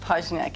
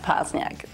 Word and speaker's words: Poźniak: Well, in Poland we pronounce it Poźniak. In America, it's Beata Poźniak.